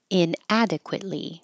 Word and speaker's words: inadequately: idiosyncratic reciprocal reciprocal inadequately the T goes up the tongue goes to the T position adequate and then hold it there for the Lee inadequately they pack my bags